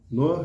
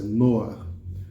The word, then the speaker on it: Noach: Noar é o nome de Noé, tá bom? É assim que a pronúncia, Noar.